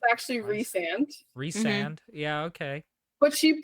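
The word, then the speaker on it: Rhysand: d and Ry and s n d yeah Ry sand yeah so it's actually reand reand yeah okay but she puts a pronunciation guide in the beginning of the book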